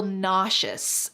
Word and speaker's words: nauseous: Notice the pronunciation here. The S in the middle sounds like sh nauseious.